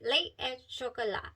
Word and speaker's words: Lait et Chocolat: Lei Et Chocolat.